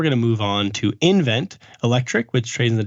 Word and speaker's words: nVent: to move on to invent Electric which trades in the ticker nvt and the company is spells its name NV NT so it's it's pronounced invent uh it's projected to